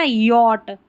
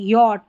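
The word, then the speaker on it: yacht: वाली स्पेलिंग है ना, यॉट, नौका जो रहती है, यॉट, यहाँ पर इसको याट नहीं पढ़ना है, योच नहीं पढ़ना है, यॉट है, यहाँ पर सी एच साइलेंट है, इसका उच्चारण नहीं हो रहा।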